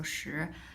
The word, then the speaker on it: 时: Well, it is actually the same as pronunciation for the number 10. It's also 时, but here the character is different.